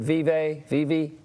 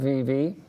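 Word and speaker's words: Vevay: Is it Vive? Tell me. I think you're correct. Vive, I believe, is the correct pronunciation.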